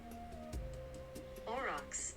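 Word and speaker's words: aurochs: It's a r a u r o c h. Uh, let's see. Orox. Orox. Orox.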